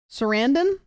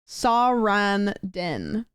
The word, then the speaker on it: Sarandon: your name Susan sendon Sarandon that's incredible Sarandon no Sanden the second one Sarandon see the stream delay